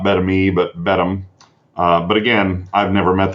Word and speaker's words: Beddome: And so yes, in answer to your previous question there, I would say Beddome. Not Beddome, not Bethany, but Beddome.